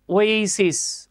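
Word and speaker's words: oasis: তাহলে আমরা কি বলবো, দিস ইজ অ্যান ওয়েসিস, ওয়া না কিন্তু, আমরা অনেকে পড়ে আসছি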